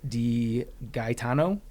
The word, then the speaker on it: DiGaetano: That's actually the correct Italian pronunciation of it. Okay. And that's the way that it should be pronounced, but the American bastardization of it and the way that I'm used to just saying it now is DiGaetano. DiGaetano. But DiGaetano is the way that every Italian would applaud you for.